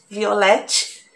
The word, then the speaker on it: Violette: É com H no final, Violette, né? A pronúncia é Violet, mas procura lá Violette.